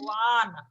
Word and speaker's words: Juan: They is silent. I have been telling you since many times. J is silent. Okay, ma'am. Juan.